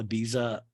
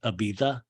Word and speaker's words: Ibiza: Ibiza does anybody ever know why we call Ibiza you're supposed to pronounce it Ibiza it always makes me like Ibiza have you